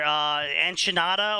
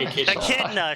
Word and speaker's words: Echidna: So he was building up to this giant fight where Enchinada, or however they fucking say her name, Echida? Enchilada. And Enchilada, Yeah, Echidna? Echidna, sure, Echidna.